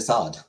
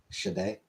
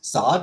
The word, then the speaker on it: Sade: Sade? Oh, it's Sade? Okay. Well, thank you, Killface. You talking about that artist? Yes. I assumed Sod because Marquis de Sade.